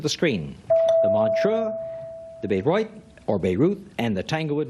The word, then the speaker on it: Bayreuth: is correct, and the Beirut, or Bayreuth, as it's pronounced, is in Germany, the West Germany Festival.